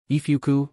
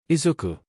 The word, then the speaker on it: Izuku: Ifuku, PPPFFF. He shakes his head at how Zashi tries to pronounce his name.